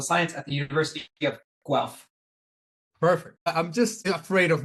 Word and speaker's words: Guelph: I'm an associate professor of political science at the University of Guelph. Perfect. I'm just afraid of mispronouncing everything at this point.